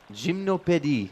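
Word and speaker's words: Gymnopédies: 31 across, the Gymnopedes composer Eric Satie. Gymnopédie, not gymnopedes.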